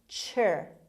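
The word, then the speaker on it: -ture: TURE is pronounced cher.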